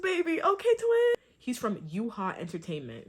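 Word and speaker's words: Yuehua: He's from Yuha Entertainment, right? I think that's how you say it, Yuha.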